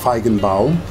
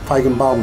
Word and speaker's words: Feigenbaum: Almancası iyi olanlar için tam telaffuzu sanıyorum şu şekilde Feigenbaum. Feigenbaum diye bir adamın adıyla anılan bir sabit var.